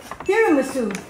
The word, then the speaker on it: tiramisu: It's not mocha, it's tiramisu. Are those your outside chanelas? No, I just bought it. It's not pronounced tiramisu, Mom.